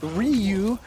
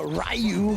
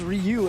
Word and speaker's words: Ryu: And you know, obviously Adrian here playing that Ryu uh the Rayu from the Bayou here coming up. Say that. That's always what my friend used to joke about people mispronouncing name.